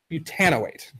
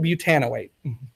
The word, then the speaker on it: butanoate: Propyl butanoate. It's got this kind of weird stress. Isn't that nice? It's much better though, right? So propyl butanoate. So they put a longer stress on the "an" for